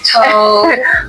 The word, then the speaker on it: Toad: We love Toad. We end up like we love Toad, and I was saying it wrong. I said Todd.